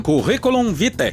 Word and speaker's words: Curriculum Vitae: Mas agora sim, vamos lá pra coluna maravilhosa do Conrado, intitulada Curriculum Vitae. Essa é a pronúncia correta, não tem nada que eu possa fazer.